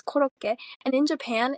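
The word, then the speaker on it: コロッケ: I think that's how you pronounce it. In Japanese it's korokke, and in Japan it's like a very common dish.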